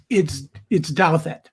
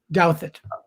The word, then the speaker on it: Douthat: It's yes, it's Douthat. Douthat.